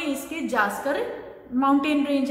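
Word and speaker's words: Zanskar: The Karakoram range in the northern and द जास्कर, यहाँ पर spelling जो है आपकी मिस प्रिंट है बुक में. सो इसको जंस्कर नहीं जास्कर पढ़ेंगे. सो एन को आप स्किप कर लेना.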